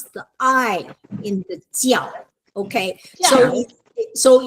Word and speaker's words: jiao: Okay, it's not zhao. That's why it's so easily mispronounced as the other one. Okay, so it's jiao. So it's like in English, J-I, Ji, and then A-O, jiao. Jiao.